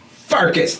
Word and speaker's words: Pfarcus: is the other host farkas the p is silent and uh yeah so